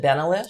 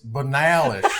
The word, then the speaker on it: Benalish: You said Benalish. Sure. I'm Benalish. So how do you pronounce it? Well, it's fine because y'all are wrong. But Hey, y'all. it's Banalish.